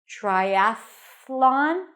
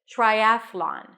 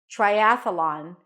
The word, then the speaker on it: triathlon: remember the transition we had in athletics Athletics Triathlon same transition Triathlon Triathlon triy saying Triathlon now listen if the